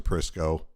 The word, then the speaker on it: Prisco: no no no Mr prisco your last name rhymes with Crisco which is what I